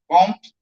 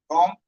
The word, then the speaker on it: Comte: Comte is the pronunciation. Comte.